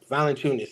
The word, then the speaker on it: Valanciunas: Valanciunas, thank you.